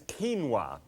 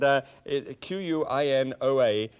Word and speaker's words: quinoa: Right, now, what I'm going to deal with is quinoa, and Quinoa, and you might have pronounced that quinoa or something like that. I used to.